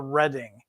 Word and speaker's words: Reading: from the Midwest you'll pronounce it reading but that's incorrect um I guess I'll blame Monopoly for that it is indeed called the Redding I think of it as the color red at the end of